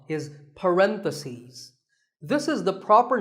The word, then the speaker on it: parentheses: If you're talking about both, the plural is parentheses. The last syllable becomes C's, parentheses.